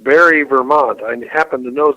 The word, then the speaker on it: Barre: one I'd like to address comes from it's pronounced Barre Vermont Anne happened to know the proper pronunciation